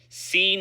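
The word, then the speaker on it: سين: Seen is pronounced like s in c.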